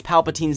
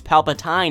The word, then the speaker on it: Palpatine: never heard someone pronounce Palpatine's name as Palpatine in person but I have heard some stories so just make sure that you pronounce the end of his name as teen not tined while most people just